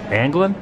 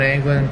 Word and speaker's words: Anglin: And John Anglin? Is that how you pronounce his name? Yep. John Anglin, Clarence Anglin, and Frank Morris here.